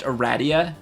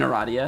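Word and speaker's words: Aradia: I found out that a radius actually pronounced a Radia not even eradia nah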